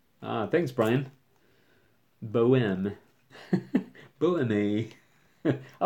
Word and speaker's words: Bohème: Again, I was It's pronounced Boem. Thanks, Brian. Boem. Boeme.